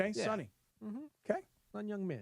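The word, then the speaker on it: Son Heung-min: Sun Hyung-min. Sun Hyung-min. Okay. Sun Hyung-min.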